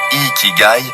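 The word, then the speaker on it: 生き甲斐: L'ikigai, prononcé ikigai, est souvent traduit par raison d'être.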